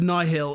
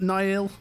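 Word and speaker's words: Nihil: number one rivers of nigh Hill is how you pronounce not Nile where Al's know my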